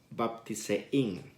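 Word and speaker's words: βαπτίζειν: Y la palabra bautizar está tomada de una palabra griega que se pronuncia baptisein.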